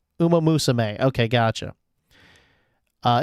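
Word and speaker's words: Uma Musume: It's it's it's pronounced Uma Musame. Uma Musame.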